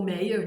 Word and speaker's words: Meyer: foi feito pela autora Joyce Meyer o Méier né Depende da pronúncia dependendo do lugar Joyce